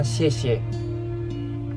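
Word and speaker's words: 谢: Tulisan di atas kue bulan ini bacanya xie.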